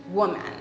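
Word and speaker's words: Womb-man: Okay, so seriously, the second chapter of my book is titled Woman. And I pronounce it woman because I actually spell it womb, so W-O-M-B, and then dash man. So essentially in that chapter,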